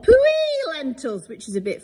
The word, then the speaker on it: Puy: These sometimes are called Puy lentils, which is a bit funny, isn't it? It's spelled P-U-Y though, not W. P-U-Y, Puy lentils.